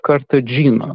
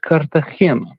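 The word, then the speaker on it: Cartagena: Now, Star, I have heard you on many occasions call his last name as Joseph Kartagena. The correct pronun pronunciation is Kartahena.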